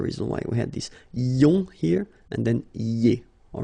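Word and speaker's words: ions: So now let's see nous, and nous goes like I-O-N-S, okay, and it should be pronounced ion. Remember, final S is not pronounced.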